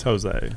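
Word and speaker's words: José: Is it Jose? It's Jose. All right, because it's spelled with an H.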